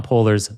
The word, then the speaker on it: Polars: Python Polers the definitive guide.